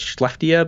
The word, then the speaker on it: Skellefteå: I believe it's Skellefteå, because the Swedish always do this thing with the K that makes it go into a sh for some reason. So I'm gonna say Skellefteå, and then Kevin Lacey